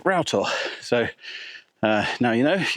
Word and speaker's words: Rough Tor: climbing up towards Rough Tor, which actually is pronounced Rough Tor. So now you know, if you want to avoid the judgment of all the seasoned moorland walkers, Rough Tor.